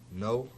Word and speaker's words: know: No. No. What's the silent letter in no? K. Good. The K.